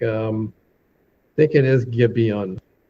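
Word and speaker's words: Gibeon: Um I think it is Gibon. Okay. Or might be G. I think it's Gibian because because it's it's an I letter in Hebrew.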